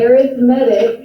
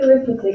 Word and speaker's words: arithmetic: It's an arithmetic, even though it looks like arithmetic, it's an arithmetic sequence.